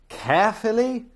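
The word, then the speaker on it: Caerphilly: There was no point accepting random clients from Jesus Christ, Carefully. Is there really a town called Carefully? I mean, it's spelled C A E R P H I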